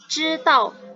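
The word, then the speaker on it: 知道: Untuk ZH itu bacanya jadi C. Misalkan nih, satu kosakata bahasa Mandarinnya tahu itu kan 知道, itu ZH. Jadi bacanya kayak 知, Z-nya itu jadi C.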